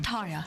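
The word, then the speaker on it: Tarja: See, her name is Taria. Tarya. And the J is pronounced I.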